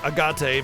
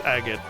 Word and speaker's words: agate: I mean, in this game, they probably pronounce agate agate because that would be the Japanese pronunciation of it. Like, phonetically speaking. But it's agate. You know? It's a rock.